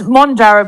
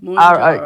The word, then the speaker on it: Mounjaro: Well, it's Monjaro, but it's Mounjaro.